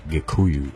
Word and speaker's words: Gikuyu: and in Barry Kaku is actually the Swahili pronunciation of the more correct term Gikuyu or a cocoon as